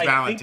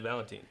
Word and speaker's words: Valentin: though no on Valentin no cuz later ker pronounces it Valentine I will say and when they inter when when Saha introduced him to the group she said Valentine but if you look